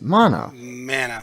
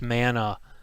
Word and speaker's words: mana: that's yes oh you're saying it wrong it's mana mana right we're saying the same thing no you're